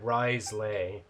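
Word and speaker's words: Wriothesley: Also, before you make the same mistake as I did, it's pronounced Writhsley.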